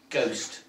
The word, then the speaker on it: ghost: print and he took the Middle English word ghost g-o-s-t but it comes from Holland he spelled it with a silent h ghost we got our ghost